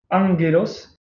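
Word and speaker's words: ⲁⲅⲅⲉⲗⲟⲥ: Donc le fameux gamma qui est devant un autre gamma se prononce N, enfin Angelos, donc comme dans ange en français, hein, ange.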